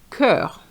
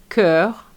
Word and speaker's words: cœur: oignon which is an onion Now for this one cœur even though it's a CH and I we know that CH is sh but here is going to be k. cœur And for the EST